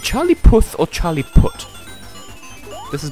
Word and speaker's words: Charlie Puth: Like Charlie Puth. Okay, is it Charlie Puth or Charlie Put? This has bothered me for many centuries. I've always pronounced it Charlie Puth.